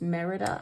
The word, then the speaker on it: Merida: This is Merida, I think, is the way you pronounce her name.